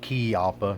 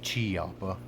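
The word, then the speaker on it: Chiappa: action army revolvers uh it is pronounced key appa not chi alpa um but jump right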